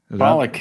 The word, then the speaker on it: Pollock: It was It was um Marsha Gay Harden in the movie Pollock. Pollock, yep.